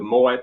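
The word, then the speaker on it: Moët: you're looking oh the Moet yes that's true I've I've pronounced that Mo for years until somebody finally pointed out the the Moet in there is Dutch so it's it's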